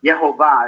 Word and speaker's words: Yehovah: But Yehovah is actually how Yud Hey Vav Hey is pronounced, and there's many opinions that it can be pronounced in many different ways.